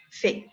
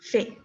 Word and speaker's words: fait: ¿Cómo pronuncio? Fait. Como si fuera así, fait, d'accord? Donc, je fais, tu fais, ils l'ont fait. Si no te suena parecido, abre tu boca en forma de A, pero di E.